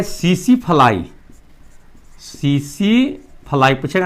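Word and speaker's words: tsetse: इसका वाहक है सीसी फ्लाई। सीसी फ्लाई पूछेगा ना कि ट्रिप्नोसोमा का वाहक कौन है? तो सीसी फ्लाई। टी का उच्चारण साइलेंट रहता है ना तो हो जाएगा टसे टसे फ्लाई।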